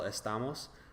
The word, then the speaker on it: estamos: that would be the look at first person plural estamos the a is the second to last vowel so the accent goes